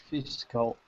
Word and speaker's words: fiscal: You know, usually Fiscal. fiscal. Ah, Fiscal. physical. Okay. They say the physical year. Don't not say physical year. Never say that.